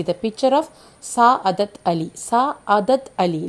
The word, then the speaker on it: Sa'adat Ali: Sa'adat Ali, like that the pronunciation.